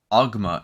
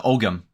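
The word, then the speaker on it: Ogham: So you squint and look, and it's a word, but it's not a word in Ogma, in the it's a Ogam.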